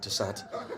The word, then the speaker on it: Toussaint: Toussaint. Like every older white guy mispronounces my name with like a T-I instead of a T-O-U.